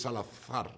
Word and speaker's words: Salazar: I went with a very thick Spanish accent, because it's Salazar.